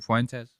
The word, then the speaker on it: Fuentes: It's one just one syllable. Fuentes.